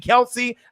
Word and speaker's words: Kelce: But hopefully Brooks and Kelsey or Kels, obviously, if you guys saw the Travis Kelce thing, he says that we've been saying his name wrong this whole time, which is mind-blowing.